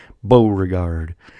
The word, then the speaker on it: Beauregard: up fighting general PT PGT Beauregard yes that's how you say it Beauregard who he actually Anderson